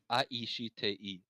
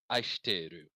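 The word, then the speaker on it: 愛してる: So it can maximally be aishiteiru, 6 syllables long, but you can scrunch it to aishiteru, 3 syllables. Aishiteru. If you and in spoken Japanese, you will often hear it said like that because she and su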